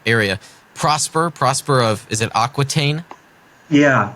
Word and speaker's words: Aquitaine: Prosper of, is it Aquitaine? Yeah, Aquitaine.